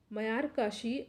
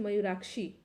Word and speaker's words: मयूराक्षी: निम्नलिखित में से कौन दो राज्य मयूराक्षी, ठीक है, मयूराक्षी है, यहाँ प्रोनाउंसिएशन में थोड़ा मिस्टेक हो गया, मयूराक्षी परियोजना से लाभान्वित हो रहे हैं।